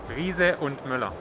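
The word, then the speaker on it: Riese & Müller: The German way to say it is how? Riese und Müller. Ah, I know I say it wrong, but you guys forgive me, right? It's okay, yeah. But I think when I say German words in English in the US, I think that I should say them with the English pronunciation. Yeah. If you say them with the German pronunciation, it's very strange.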